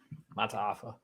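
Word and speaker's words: Mata'afa: Talked to him at the Portal Bay event, so I got that the lowdown on pronunciation guide because that's not updated yet. Say he's a bad Mataafa.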